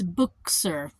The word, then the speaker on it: Buchser: But it's Buchser for me. And so book and sir is how you say it.